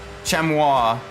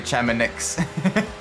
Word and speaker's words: Chamonix: Like if you look at like Ice Arena and Gran Turismo, it's a French name, Chamois, I think it's how you pronounce it, Chamois. I'm just gonna say Chamonix.